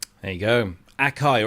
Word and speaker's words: Akai: Akai or as the Americans say, Akai. Uh, I think the Japanese say Akai as well. I don't know. But we Brits always say Akai.